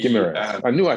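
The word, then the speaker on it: Guimarães: Guimaraes. Guimaraes.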